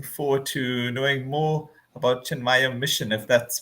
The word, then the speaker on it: Chinmaya: and I'm looking forward to knowing more about chin mayaya Mission if that's pronounced correctly yes chinmaya Mission chin mayaya Mission